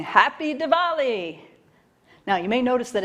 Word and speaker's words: Diwali: each other saying happy diwali now you may notice that it's spelled with a w in the middle but it's pronounced kind of a soft vw diwali day four that's that's